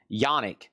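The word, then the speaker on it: Janick: So, it's signed by a Bruce Dickson, Adrian Smith, Dave Murray, Steve Harris, and that's pronounced Yanni.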